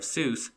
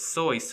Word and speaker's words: Seuss: a college friend of Seuss the correct pronunciation is so which rhymes with voice Lang even created a